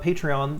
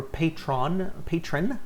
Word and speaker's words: Patreon: And also, I did start Patreon this year, or patron, I think is how it's supposed to be pronounced. I do it with 3 syllables, guys, sorry, Patreon.